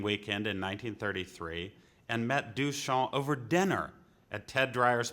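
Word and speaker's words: Duchamp: in 1933 and met ducha over dinner at Ted Dryer's parents house in Brooklyn Heights Joseph alus pronounced du sha quote a great fellow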